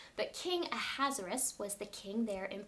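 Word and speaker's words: Ahasuerus: of persia his name this is a hard name to say his name is king hazarus now maybe you've heard people say it a little bit different but king a hazaris was the king there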